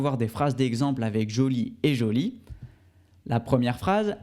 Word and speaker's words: joli: prochain adjectifs qui est joli et jolie la prononciation ne change pas on remarque c'est féminin ou masculin seulement avec le e à la fin donc jolie et joli très bien alors nous